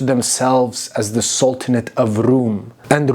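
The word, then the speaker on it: Rum: as the sultanate of room and room is just how they pronounced Rome in their language they saw themselves as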